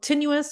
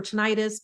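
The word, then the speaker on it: tinnitus: ear started ringing and it's called tenuous or ttis people pronounce it both ways I have been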